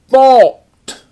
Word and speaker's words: balked: Next we have balked. And that A-L makes that A have the aw sound as in ball.